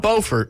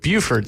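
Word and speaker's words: Beaufort: it was close to bufor not bordt but Buford South Carolina because you know there's two there's bord and Buford I did not there's a bord they spell it the same way but they pronounce it differently okay I got you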